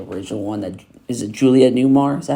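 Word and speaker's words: Julie Newmar: Julia Newmar, is that how you say her name?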